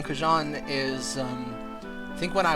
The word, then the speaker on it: xujhan: But yeah, the original canonical pronunciation of xujhan from when I invented the name is xujhan.